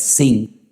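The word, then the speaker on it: שׂ: que tiene doble pronunciación, porque si arriba te encuentras un punto a la derecha es shin, y si te encuentras arriba un punto a la izquierda es sin, pues ahí encontramos a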